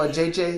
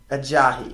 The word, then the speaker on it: Ajayi: How do you say his name? How did you say it a couple weeks ago? A JJ? A JJ. That is what I said last week. It's Ajayi. Ajayi. Okay.